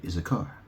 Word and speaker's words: Issachar: So Issachar, or Issachar, because you don't, no one pronounces the H in it really. They just say Issachar.